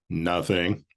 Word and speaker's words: nothing: we are told that the Elizabethan pronunciation of nothing had a harder T sound to it so it would be almost indistinguishable from noting noting that is taking notice